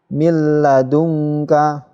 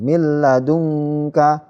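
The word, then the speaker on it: من لدنك: ini Kaulah bentuk Hai cara membacanya Hai milladunka tidak mendukung ya tidak mineral dungkang salah ya masuk tetapi tidak mendengung milladunka milladunka ya langsung milladunka masuk tidak berdengung minum sukun bertemu lam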